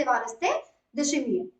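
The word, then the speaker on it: Évariste Ndayishimiye: इस टाइम पे इसके जो प्रेसिडेंट है उनका नाम है एवारिस्ते डायशिमिये। एवारिस्ते एन जो है वो साइलेंट है, डायशिमिये इनके जो है वो प्रेसिडेंट है।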